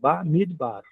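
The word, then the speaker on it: מדבר: Midbar. Nesse exemplo, a segunda sílaba termina com a consoante audível e cheva mudo.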